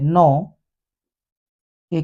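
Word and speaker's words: knock: तो सिंपल नियम है के के बाद यदि एन होता है तो हम के को नहीं पढ़ते नो के के बाद एन आया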